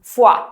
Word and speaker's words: foie: Porque vamos a ver, esta palabra tiene 3 vocales y casualmente se pronuncia con las 2 que faltan. Foie.